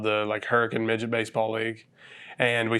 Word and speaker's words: Hurricane: It's spelled hurricane, but we call it Hurricane, being from the South.